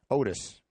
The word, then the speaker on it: Octis: He spelled his name Octis. And we asked him, how do you pronounce that? And he said, Otis. So there was a silent C in his name.